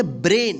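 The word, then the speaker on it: brain: पे देखिए बी आर ए आई एन इसको क्या पढ़ेंगे ब्रेन इसको ब्रेन नहीं पढ़ेंगे क्या पढ़ेंगे ब्रेन यानी ए के जस्ट बाद आई रहे या ए के जस्ट बाद वाई रहे तो इसका उच्चारण ए होगा इसका भी उच्चारण ए होगा तो देखिए यहां पे ए के जस्ट बाद क्या है आई है इसलिए इस ए का ए उच्चारण हुआ है ठीक है तो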